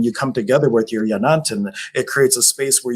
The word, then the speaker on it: yanantin: And in shamanism, the type of that I practice, we have a concept called Yanantin or Yanatin, depending on the pronunciation, and it means sacred pair.